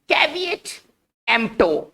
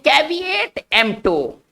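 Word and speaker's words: caveat emptor: तो हमारा next word है, इसको हम पढ़ेंगे कैविएट एम्प्टो। कैविएट एम्प्टो, देखिए इसका उच्चारण कैसे है, कैविएट एम्प्टो।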